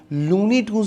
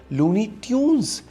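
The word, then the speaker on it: Looney Tunes: असल स्पेलिंग है लूनी ट्यून्स। ये टून्स नहीं है, ये ट्यून है, जैसे किसी गाने की ट्यून होती है।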